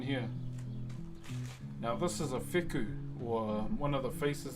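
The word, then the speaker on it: wheku: So, this is um a fu. W H E KU is how you spell it. While language is an F.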